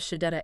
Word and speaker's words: Shechet: Welcome to From the Desk of Shadetta AI. That's spelled S H E C H E T AI.